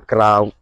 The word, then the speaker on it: clau: Sa scriu clau e sa pronuncia crau.